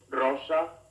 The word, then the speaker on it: rosa: the english one bueno the letter r at the beginning of a word is trilled with a sound somewhat like the tease in the word butter rosa the double r found